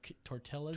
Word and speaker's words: tortilla: Like when someone says chili killas or something, or tortillas. Tortillas? Do you like go ahead and say, excuse me, sir, it's tortilla? You got to make the Y sound.